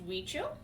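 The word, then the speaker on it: Huichol: gonna pronounce it and they don't look the same because it's a spanish word so there's a spelling it's pronounced we chill which is one of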